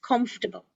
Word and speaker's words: comfortable: is my favorite now notice this word is not for syllables not comfortable it is comfortable calm stable same like vegetable okay all right and